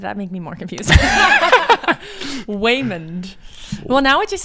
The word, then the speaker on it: Waymond: Man of Mystery but it sounds like Waymond is how you would say his name okay now that's going